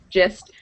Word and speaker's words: gist: So it's pronounced, it sounds like it starts with a J. Gist.